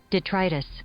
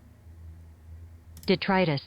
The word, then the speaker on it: detritus: to try this right detritus yeah okay plural plural is spelled the same way but pronounced also the same way detritus huh